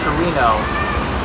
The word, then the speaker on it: Torino: Turin is the name in Piedmontese, the dialect here. In Italian it's Torino.